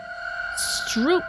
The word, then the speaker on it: stroop: Stroop means syrup, and it's pronounced like stroop.